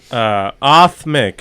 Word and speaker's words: Aatmik: Aatmik. So it's just you could say Aatmik, and then the R is silent.